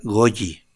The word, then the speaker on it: goji: con vitamina b6 goji se escribe goji se pronuncia goyi taurina alga afa de